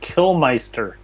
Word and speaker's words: Kilmister: This metalhead was born Ian Fraser Kilmister. Oh, I actually know this. Pronounced Killmeister. No, I will never pronounce it that way.